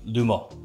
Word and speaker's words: Le Male: Le Mans from jean-pogatier which I guess if you're pronouncing it correctly it would be lumos but we're gonna keep with Lamar that's that's what we're rolling with here today so this is